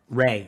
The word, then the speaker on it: Rhea: I've seen interviews with her where they call her Rhea. They are saying it wrong. It's Ray. Listen to the other people involved in the show talking about it. It's Ray.